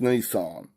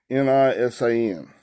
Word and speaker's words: Nisan: Were accustomed to slay and eat on the 14th day of the month of, I think it's pronounced Nisan, Nisan.